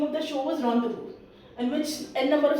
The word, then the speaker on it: rendezvous: Moving to third word r e n d e z v o u s.